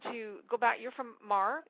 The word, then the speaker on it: Mar: You're from MAR. M A R. Yes. Yes. You pronounce it right.